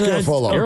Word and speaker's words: Garafolo: It doesn't rhyme with Garoppolo. It's Garofalo.